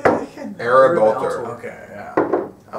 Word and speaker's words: Ereb Altor: Ereb Altor.